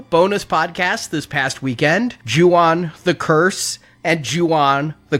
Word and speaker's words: Ju-on: I learned a lot about The Grudge and The Curse and Ju-on and all of that, including how to pronounce Ju-on and not Yuan.